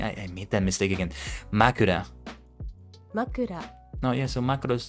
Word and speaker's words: 枕: Makura.